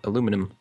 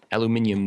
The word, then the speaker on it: aluminium: So, speaking of aluminium, I always see people arguing about the correct pronunciation and I think many people don't actually realize that they are kind of both correct. Just one is the kind of American way and other is the European way.